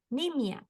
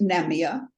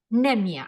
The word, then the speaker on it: Nemia: are starting with nimia I hope I pronounced your name correctly very close Linda it's nemia nemia okay like in Spanish I I didn't dare